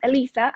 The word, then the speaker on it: Elisa: My name is the Spanish version of Eliza. So it's pronounced Elisa.